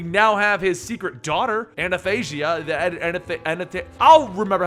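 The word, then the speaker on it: Athanasia: problems pronouncing that one it's literally spelled a t h a n a s i a anasia i i i got it right in the video I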